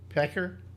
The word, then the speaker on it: Pecker: McDougal by talking to David Packer, excuse me. Pecker?